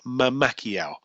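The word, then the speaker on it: Mamacquiao: is Manny Mamakiao, and that is M-A-M-A, like mama, C-Q-U-I-A-O. So it's spelled exactly the same. It's Manny Mamakiao.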